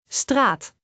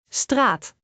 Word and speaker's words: straat: A is a long sound. Like in straat which means street. Let us break it down. Straat. Straat.